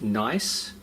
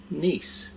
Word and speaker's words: Nice: using nice and no it's not pronounced nice it's a brand pronounced nice now we just want